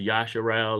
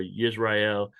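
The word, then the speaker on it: ישראל: Yaakov's name was changed to Yasharal or Yisrael, however you want to pronounce it, but his name was changed by Yah.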